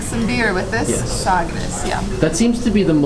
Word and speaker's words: Sagres: I think it's Sagres. Is that how you say it? You've got to drink some beer with this. Yes. Sagres, yeah.